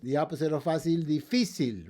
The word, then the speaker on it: difícil: The opposite of fácil, difícil, right? We don't say difícil, we say difícil, so we have to put a written accent there, too. Another one is going to be angel.